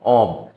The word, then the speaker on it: of: আমরা উচ্চারণটা খেয়াল করি, অব, ভুলবশত আমরা প্রায় কি করি, ও এফকে অফ উচ্চারণ করি, কিন্তু উচ্চারণটা হবে কি অ আর ব, অব, কিন্তু আমরা গণহারে এর মধ্যে ফেলেছি।